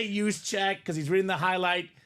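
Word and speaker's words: Juszczyk: no I'm too nice it's use check you got to say use check cuz he's reading the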